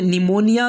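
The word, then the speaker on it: pneumonia: उसके बाद में 14वां रूल है, जब पी के बाद एन एस टी आ जाए तो पी साइलेंट होगा, यानी पी के बाद में एन या एस या टी आए तो पी जो है तो साइलेंट हो जाएगा। जैसे कि पहला वर्ड है निमोनिया, दूसरा वर्ड है साइकोलॉजी, यहाँ पर पी को नहीं पढ़ा जाएगा।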